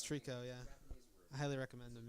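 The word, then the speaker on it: tricot: It's pronounced Trico, champ. Japanese math rock. It's a bunch of cute Japanese girls playing math rock. It's great. They pronounce it Trico. It's Trico, yeah.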